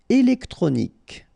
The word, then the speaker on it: électronique: Électronique. Okay, so as we saw previously, Q-U-E at the end, K.